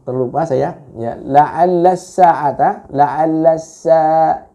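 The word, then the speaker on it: لَعَلَّ: La'alla sa'ata, la'alla itu Anda kepanjangan membacanya ya, lebih daripada dua ketuk, lebih daripada 2 harokat ya.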